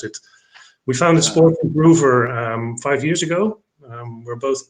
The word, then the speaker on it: SportsImproVR: next to me hello we founded sports improver that's the way we pronounce it we found a sport groover five years ago we're